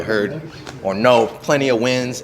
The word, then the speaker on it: Nguyen: Y'all probably heard or know plenty of wins. Nguyen is pronounced Win.